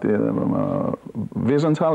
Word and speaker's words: Wiesenthal: Let me ask you about Wiesenthal, is the nice pronunciation, yes. Wiesenthal.